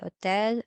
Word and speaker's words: hotel: Examples also los apartamentos, el hotel, silent H in Spanish, el hotel, el aeropuerto, el mapa, el operador, el tomate, and el melón.